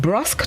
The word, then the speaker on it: brusque: The word of the day this morning is spelled B-R-U-S-Q-U-E, pronounced brusque, and it's an adjective which means markedly